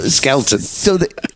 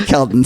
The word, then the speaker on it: Kelton: I got her name wrong. So it's a portmanteau of her first name and surname. Skelton. That's right. Sorry, Kelton.